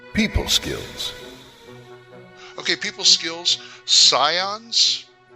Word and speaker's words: Scions: back to you people skills okay people skills Scions s c i o NS is that how you pronounce it yes okay and they are uh